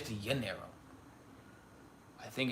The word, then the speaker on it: Rio de Janeiro: I think it's actually Janeiro. I think the J is the J is a Y. I think it's actually Janeiro.